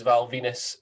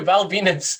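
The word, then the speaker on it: Val Venis: Val Venus, the guy, the wrestler who came out to a towel with a gimmick of a porn star whose name rhymes with penis, will not be in this year's Royal Rumble.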